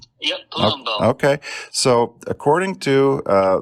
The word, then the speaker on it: Palumbo: fantastic performers Mia palum uh how do you pronounce that Palumbo yep Palumbo okay so according to uh the latest ratings